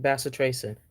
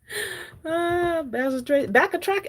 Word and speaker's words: bacitracin: calamine lotion what else first pronunciation was correct bacitracin whoa I went to school back a track I mean look at